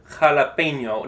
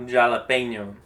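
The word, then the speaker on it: jalapeño: J sound like G, but in Spanish it makes the H sound like in. And so what I always think of is we have jalapeno, not jalapeno. And so it's kind of like a H sound in English, but it comes from a little further back like a sound.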